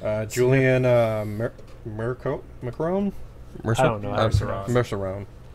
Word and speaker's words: Merceron: Julian uh mer mcon merceron merceron is probably how pronounced there she goes right